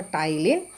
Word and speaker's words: ptyalin: So the P is silent here. So ptyalin.